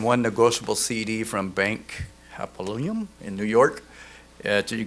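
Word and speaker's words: Hapoalim: And one negotiable CD from Bank Hapolyum in New York.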